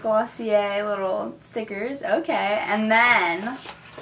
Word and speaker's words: Glossier: I think that's how you say it, Glossier, even though there's an R.